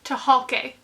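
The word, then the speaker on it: Tucholke: edited by April Genevieve to choke to hulke is how you pronounce that sorry uh I've read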